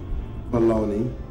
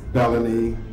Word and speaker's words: Baloney: My name is Baloney, and we pronounce it just like Baloney. That's the Americanization of it. Some of my relatives go as Baloney, Balange, or Bulane.